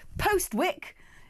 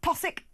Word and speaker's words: Postwick: Postwick is pronounced Possick, and Haute Bois, or Haute Boys, I don't know how you'd say it, is pronounced Hobbis.